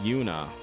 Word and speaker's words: Juna: um whose name also starts with with J but it's pronounced Yuna I'm pretty sure that's